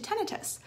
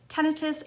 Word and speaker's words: tinnitus: So first, it's important to understand that there's two pronunciations, tinnitus and tinnitus, and both pronunciations are absolutely correct, okay?